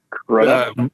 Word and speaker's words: Crudup: Crudup.